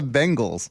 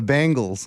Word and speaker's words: Bengals: it again the Bengals it's the Bengals it's the Bengal tiger you you pronounce it like that band the Bangals the Bengals the Bengal